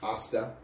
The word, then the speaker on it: hasta: You've lived here how long and you don't know that there's no H sound in Spanish? In It's- Mexican. It said hasta. I can It's read. pronounced hasta.